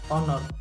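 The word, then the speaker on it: honour: कारण उच्चारण कौन आसूँ ऑनर ओ आसूँ उच्चारण कौन आसला आमर उच्चारण आप देखिपे ऑनर ऑनर सहित उच्चारण ओ आस एच आमर साइलेंट हो जाए तेणु सिंधी सेकेंड है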